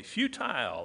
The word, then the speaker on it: futile: but they became futile i like to pronounce it that way futile in their speculations and